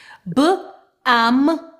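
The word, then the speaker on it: balm: With some accent, they actually pronounce the L, almond. So please keep this in mind. B-am, bam.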